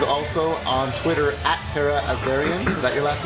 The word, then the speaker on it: Azarian: Cosplay, and she's also on Twitter at Tara Azarian. Is that your last name? Yes, awesome. You pronounced it correctly.